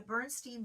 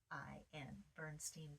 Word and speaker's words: Berenstain: So Bernstein Bears, if you haven't heard of it, it's spelled BERENSTAIN, Bernstein Bears.